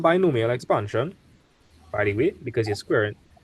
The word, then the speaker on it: binomial: That's the proper way to say it. It's binomial expansion.